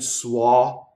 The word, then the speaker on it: suoi: And then suoi. It goes by fast. Doesn't rhyme with soy. Doesn't rhyme with soy sauce. Suoi.